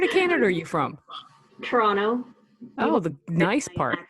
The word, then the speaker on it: Toronto: Toronto. Oh, the nice part. Accent. I've been here too long. No, you said it right, Toronto.